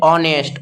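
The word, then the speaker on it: honest: क्योंकि हनेस्ट बोलने बोलते कैसे? ऑनेस्ट। ऑनेस्ट बोलते हैं।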